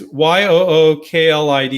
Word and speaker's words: Euclid: Okay, it's Yooklid. Euclid. Got it.